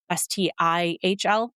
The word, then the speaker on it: Stihl: One of the companies they mentioned was Stihl, Stihl. I'm pretty sure that's how you pronounce it, Stihl Tools.